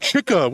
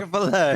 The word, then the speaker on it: Chick-fil-A: It's not Chicka. Who's Chicka? Chick-fil-A. It's just I find it funny Chick-fil-A. The guy from Staten Island's correcting so much. Chick-fil-A, yeah.